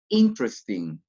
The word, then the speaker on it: interesting: not pronounced here let's go with the next interesting interesting we not pronounce very good letter e that interesting next